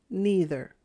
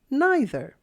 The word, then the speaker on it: neither: always check the dictionary in this reading I pronounce these words this way either and neither you can also say either and neither you can decide how